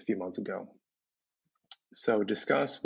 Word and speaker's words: Disqus: So Disqus, which is pronounced as in discussion, but spelled in sort of a weird old school Web 2.0 way with a Q.